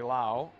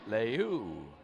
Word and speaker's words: Leu: And the correct pronunciation is Ashley Leu.